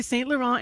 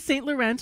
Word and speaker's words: St. Laurent: Laurent is on the, and you're going to hear me say St. Laurent and St. Laurent all morning. Don't call the listener line. People here pronounce it both ways.